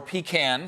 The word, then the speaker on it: pecan: just pecan as much as I love pecan or pecan. Some people say, you know, it depends on how you say it.